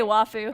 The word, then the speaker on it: waifu: phosphorous King said Oh WTF did Nico just pronounced a waifu correctly that's true you do say wafu oh yeah laugh it a lot okay I